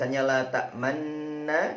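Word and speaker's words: لا تأمنّا: Ditulis 'la ta'manna' , dibaca 'la tamanna'.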